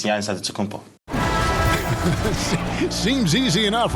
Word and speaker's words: Antetokounmpo: He helped set the record straight of how you pronounce it. In a Greek way, you gotta say with a D, so it's Antetokounmpo. But in the Greek way, you say with the NT, like Antetokounmpo.